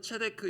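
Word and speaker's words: צדק: 아돈이라는 단어는 주인이라는 뜻이고 세이라는 말은 실제로는 체데크 이렇게 발음하는데의 공이 이렇게 번역되는 단어입니다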